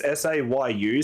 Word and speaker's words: Sayu: It's Sayu, so it's even easier. You don't even have to think of how phonetics work because it's spelled how it sounds.